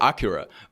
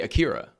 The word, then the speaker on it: Akira: it right like you you did the Japanese pronunciation the first time so that's what I was wondering is it like Japanese pronunciation because I know it is Acura but it's a but